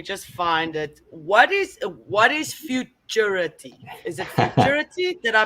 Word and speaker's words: futurity: What is futurity? Is it futurity? Did I pronounce it right? You did. So futurity.